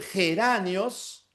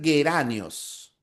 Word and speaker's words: geranios: Pero fíjate en la B de Beso, en geranios, eso es como una J, geranios, y no es oclusiva, es una africativa, geranios. Para que sea oclusiva tendría que ser gueranios, ya.